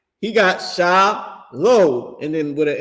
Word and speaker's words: shalom: He don't got sha la. He don't got s h a l a w o m. He got sha low and then with a m.